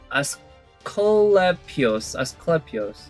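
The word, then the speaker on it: Asclepius: on my defense to survive attacks from us as clapius yeah that's how you pronounce it anyway I think she's strong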